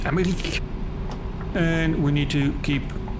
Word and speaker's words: Emmerich: That's how you say it in German language, Emmerich.